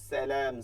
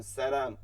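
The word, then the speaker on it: سلام: ওয়াও ওয়াও, ওয়া আ, ওয়া আ, লাইকুমুস সালাম, সিনের উচ্চারণটা আমি ঠিক মতন করছি কিনা? সালাম, সালাম।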